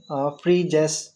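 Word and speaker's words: Phryges: है इसका द फ्रीजेस pronounce करेंगे फ्रीजेस या तो समझ लो फ्री की गेस कोई हमें फ्री की गेस दे रहा है वहां पे फ्रीजेस पेरिस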